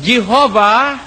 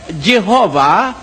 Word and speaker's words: Jehovah: The sound of Y is represented by J and the sound of W is represented by V as in Latin.